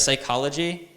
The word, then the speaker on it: psychology: writing trilogy I write psychology without a CH and without a P because they're not pronounced so I don't write